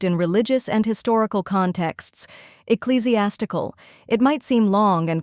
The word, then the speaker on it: ecclesiastical: word often used in religious and historical contexts ecclesiastical it might seem long and complicated but by the end of this video you'll pronounce it with confidence the correct pronunciation is eesy as tool let's break it down first we have e